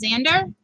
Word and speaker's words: Xander: like that eggs and Oh Xander just Xander how is it pronounced help me out help me out like Alexander alright so you just